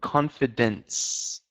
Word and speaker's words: confidence: Um, in confidence and intelligence have this s sound at the end.